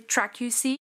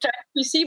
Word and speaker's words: TRAQ: It's called, am I reading it correctly, TRAQC? Just TRAQ. We just, everybody said TRAQC, but no, it's just simply TRAQ. Okay. Which means T-ray assessment of quality control. Phonetically, it sounds like TRAQ, tracking something.